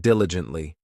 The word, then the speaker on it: diligently: Next, we have diligently. This adverb has 4 syllables, and the stress is on that first syllable, diligently.